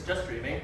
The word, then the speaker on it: JSTDRMN: got just streams oh yeah just streams it's just streaming that's how that's how you pronounce it um as a basic overview what